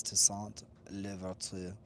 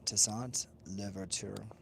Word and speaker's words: Toussaint Louverture: It's Toussaint Louverture. So yes, it's Toussaint Louverture, and you know French is hard for many to pronounce.